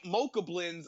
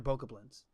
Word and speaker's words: Bokoblin: I gotta do no other dungeon, or fight Mochablins until my eyeballs bleed, and That then was where steal my their demo- like shit.